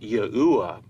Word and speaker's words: Yahuwah: To lay out our case that God's sacred name is correctly pronounced as Yahuwah, we're going to break down what we've learned